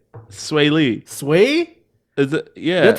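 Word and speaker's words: Swae Lee: how do you say sway Lee sway is that yeah that's an e what wait how do you spell it it spelled SW AE yeah sway ha ha and number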